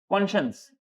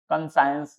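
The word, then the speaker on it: conscience: कॉन्शियंस वही, वो moral context में, इनर वॉइस, मॉरल ही है वो, बस सही गलत बताने वाला कॉन्शियंस, कंसाइंस जिसका स्पेलिंग है, बट बोलते हैं कॉन्शियंस।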